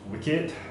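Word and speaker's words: WCKD: see I find myself the property of wcve pronounced wicked short for world catastrophe Killzone Department because any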